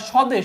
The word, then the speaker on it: স্বদেশ: আবার স্বদেশ। স্বদেশের প্রথমে কিন্তু এখানে একটা ব ফলা ছিল। বাট উচ্চারণ করার সময় কিন্তু এখানে আর ব ফলাটা নাই।